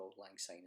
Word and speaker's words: auld lang syne: jewel with deer prolong say my dear for auld lang syne is not as my joy that is the